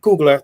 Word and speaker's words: Coogler: So my question is, how have specific Black directors, which is like Ava DuVernay and Ryan Coogler, I think that's how you say it. Coogler, thank you.